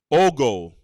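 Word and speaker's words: ogle: Let's get the right pronunciation. Oal.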